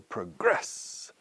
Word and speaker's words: progress: to progress to progress we stress the second syllable progress now the noun Progresso